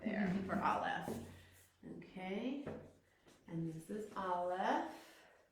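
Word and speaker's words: א: So Aleph, Aleph is silent. I can't make any sound with it.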